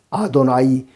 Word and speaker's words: 아도나이: 이렇게 이야기를 합니다 마찬가지로 히브리인들 유대인들도 성경을 읽다가 여호와라는 글자가 나오면은 여호와라고 발음하지 않습니다 아도나이 주님이라고 발음합니다 그래서 시편 110편 1절